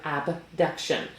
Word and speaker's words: abduction: about today with shoulder abduction So I say it like that aBduction because there's another one that's called adduction.